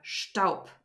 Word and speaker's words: Staub: Whenever a syllable or a word ends with a B, it's not pronounced like a B, but like a P. So der Staub, for example. It's not Staub, but it's der Staub. So the B turns into a P.